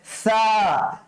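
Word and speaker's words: ث: আলিফ বা তা সা সা পাতলা করে উচ্চারণ করতে হবে সা আমার আমার অবয়কটা দেখার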